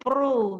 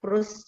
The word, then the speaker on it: Proust: Kalau bacanya, kalau nggak salah itu Pro gitu. Tapi saya sendiri kalau ikut-ikut pelatihan atau seminar atau apa ya tentang hukum itu ya para dosen menyebutnya Proust juga.